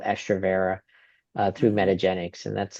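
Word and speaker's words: Estrovera: So, like one of my favorite Um, one of my favorite permenopausal/menopausal um, medicines for that is called estroa uh through metagenics and that's like a very common thing.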